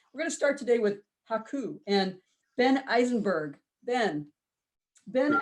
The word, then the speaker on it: HAKOO: us ben about and i'm saying it correctly haku yeah you say it perfectly uh can you